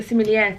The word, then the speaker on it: sommelier: Yeah, well, obviously we've got the sommelier tonight. Yes. Is that how you say it? We do, yes, sommelier.